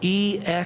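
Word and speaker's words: ἔξοδος: The word that Peter uses here is spelled E-X-O-D-O-S, exodos.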